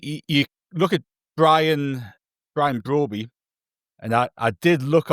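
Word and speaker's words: Brobbey: I think you look at Brian Brian Broby and I I did look on a YouTube video to see him say his own name and I remember that because it rhymes with Steven Broady that I told Andrew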